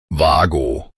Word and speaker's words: WAGO: its name is pronounced WAGO. WAGO. The initial letter W is pronounced with a V sound, and both vowels are drawn out long and clear.